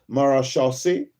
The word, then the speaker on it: maréchaussée: In French, in France, it is pronounced as maréchaussée.